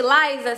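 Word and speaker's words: Lysa: promoção Essa semana tá Laisa se escreve l y s a escreve Lisa e vamos lá eu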